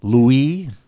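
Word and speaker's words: Louis: a funny French name Louie as they pronounce it in France ello you is how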